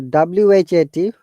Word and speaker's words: what: explaining you know the wh att you say what juan which will know we do shouldn't pronounce the h sound it is what when which will can you please pronounce